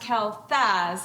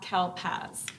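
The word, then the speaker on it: kelþaz: in the womb actually that's the old English letter for thorn it's not a p um so it would be pronounced Kel Faz not Kel pasaz whatever I'm not a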